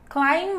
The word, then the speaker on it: climb: situation is climb again we don't have you to say B in that situation it's a silent B Cline mountain climbing Everest was